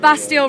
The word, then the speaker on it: Bastille: me to ask like bastial rhymes with pastel what's your favorite fruit